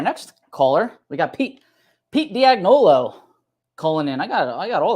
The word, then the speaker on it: Dagnolo: It's Dagnolo.